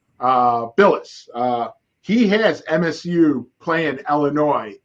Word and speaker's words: Bilas: Jay Bilas. Billis.